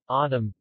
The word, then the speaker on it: autumn: what where why when the letter n is silent in the final mn autumn column final e is